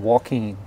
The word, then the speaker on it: Joaquin: US Highway 84 East in Walken that's spelled j o a quu i n I really do appreciate